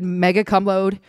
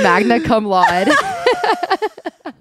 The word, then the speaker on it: magna cum laude: High school football captain, like graduated mega cum laude, Sorry, what? graduated magna cum laude, I love that for him. magna cum laude. I always say it wrong.